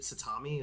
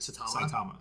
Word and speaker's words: Saitama: characters, but specifically with is it Satami? Is that how you say his name? Saitama. Yeah. Saitama.